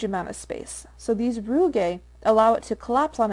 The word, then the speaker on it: rugae: the stomach we have these were called rugae rugae that's the pronunciation although apparently it's pronounced a hundred different